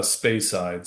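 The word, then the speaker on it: Speyside: What's the correct pronunciation? It is uh spacesides.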